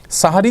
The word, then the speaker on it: সাহরী: কিন্তু সাহারি যদি সেহরি যদি আমি বলতে পারি তাহলে সাহারি বলতে অসুবিধা কোথায়? সেহরি ভুল। সেহের মানে জাদু সেখান থেকে সেহরি। এটা ভুল প্রচলন হয়ে গেছে।